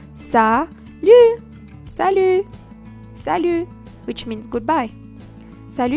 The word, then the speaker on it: salut: again to say bye but it depend of the way you pronounce it the way you uh express yourself while saying salute for instance when you're saying hi you say sal sal okay Sal but when